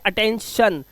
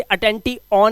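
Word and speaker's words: attention: तो आई का उच्चारण अ करना है। इसलिए इसे पढ़ते हैं अटेंशन। इसे अटेंटी ऑन नहीं पढ़ते।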